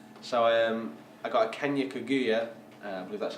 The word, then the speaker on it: Kaguyu: So I got a Kenya Kaguyu, I believe that's how you pronounce it.